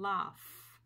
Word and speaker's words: laugh: GH تنطق أيضا فاء أحيانا في بعض الكلمات مثل laugh laugh.